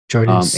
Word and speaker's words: Jordan Spieth: Jordan Spieth.